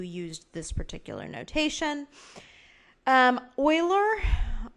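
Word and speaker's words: Euler: Um Oiler that's Oiler spelled like that came up with his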